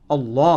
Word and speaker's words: अल्लाह: सर फिर अल्लाह की pronunciation भी ठीक होनी चाहिए, ये अल्लाह नहीं है लफ्ज़, अल्लाह है, ये पुर करके पढ़ना है।